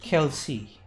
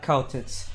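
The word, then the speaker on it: Kal'tsit: Oh, so that's how they pronounce it. Kelsey. Not cow tits.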